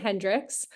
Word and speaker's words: Hendrikse: Um but thank you for joining us and we are really excited for the conversation this morning with Nate Hendrickx. I'm hoping I pronounced your last name correctly.